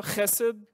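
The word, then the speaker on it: חֶסֶד: Mais on prononce ça chesed.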